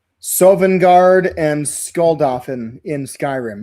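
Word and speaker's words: Sovngarde: How do you pronounce Sovenguard and Skull Dolphin in Skyrim?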